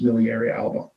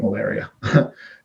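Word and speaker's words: miliaria alba: healthy malaria uh miliary alba right i always pronounce it strong it's miliary alba i keep calling it malaria is these vesicles these these um blisters are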